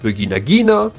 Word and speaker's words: Vigna Ghina: The Vignagginina, normally pronounced Vinagginina, was a prototype commander used